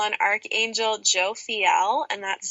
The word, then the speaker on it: Jophiel: for romance specifically I would call on Archangel Joe Fiel and that's spelled j-o-p-h-i-e-l and the easiest way to call